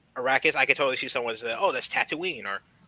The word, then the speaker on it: Arrakis: Arrakis. Arrakis.